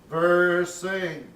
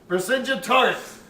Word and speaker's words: Vercingetorix: Pronounce that slowly. Vercingetorix. Okay, now put it all together. Vercingetorix.